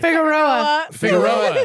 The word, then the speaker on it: Figueroa: And Erica Figueroa. Is that how you say it? Figueroa.